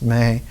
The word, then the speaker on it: me: in ancient Akkadian was called the May, M-E, but pronounced May.